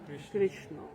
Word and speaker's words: কৃষ্ণ: ঋকার না কৃষ্ণ শব্দটা কি কৃষ্ণ না কৃষ্ণ হলে রস্বীকার হয় উচ্চারণে ভুল হয় এজন্য কৃষ্ণ কৃ কৃষ্ণ